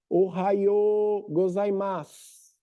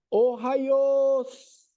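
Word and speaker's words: おはようございます: Aí, eles começaram a dizer só Ohayo, Ohayos, Ohayos. Viu que encurtaram? Na pronúncia do dia a dia. Ohayo gozaimasu, Ohayos. Depois virou só os.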